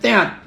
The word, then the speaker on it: teat: Tit itu puting. Iya, bacanya teat, puting.